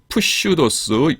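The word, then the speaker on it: ψεῦδος: 푸슈도스 영어로는 PSEU라고 하는 그 앞에 접두어로 사용되거든요. 근데 영어에서는 이 P를 묵음 처리합니다. 그래서 슈라고 읽어요. 근데 헬라어에서는 묵음 처리하고 그러는 거 없죠.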